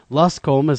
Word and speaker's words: Luscombe: uh, Luscom put together. Am I pronouncing your last name correctly, Luscom? It was totally fine.